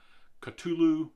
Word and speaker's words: Cthulhu: character right his mythos some people will say uh katulu depending on how it's spelled some people will say